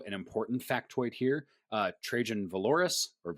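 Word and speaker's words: Valoris: Trajan Valorous, how do you say it? Valorous, thank you.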